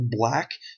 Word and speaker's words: Blaqk: There's a team medic by the name of Dr. Black, which is spelled Blaqk.